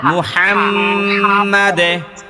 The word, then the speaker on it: মুহাম্মাদ: আলা মুহাম্মাদ এই হা এটা চাপ দিয়া বলতে হবে মোহাম্মাদ মুহাম্মাদ